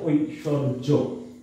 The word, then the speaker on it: ঐশ্বর্য: আর এখন আরেকটা নিয়ম হচ্ছে সরি অন্তর্জ অবলিক বর্গীয় জ, এই দুইটা থাকলে সর্বদাই কি হয়? উচ্চারণের ক্ষেত্রে বর্গীয় জ হয়, তাই এখানে বর্গীয় জ হয়েছে ঐশ্বর্য।